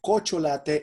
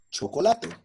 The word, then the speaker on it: chocolate: Murcielago when we say for example kocho latte instead of chocolate so that is not